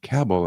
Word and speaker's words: Cabell: Mayor Earl Cabell, that's Cabll L, and pronounced Cabell as I later learned. Mayor Earl Cabbell of Dallas, perhaps the le the first person